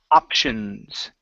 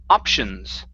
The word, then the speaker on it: options: So the first one we have here is the pronunciation of the word options. Okay, make sure you're pronouncing a P instead of ok with a K, but options.